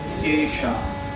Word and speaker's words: কেশা: কাঞ্চন বরণ বিরাজ সুবেশা, কানন কুণ্ডল কুঞ্চিত কেশা। অর্থাৎ আমি কেশা উচ্চারণ করিনি, আমি একটু বিকৃত উচ্চারণ করলাম।